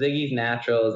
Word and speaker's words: Ziggy's Naturals: co-founder of ziggy's naturals is that how you pronounce it yeah so so it's ziggy's naturals and ziggy is actually my wife's name so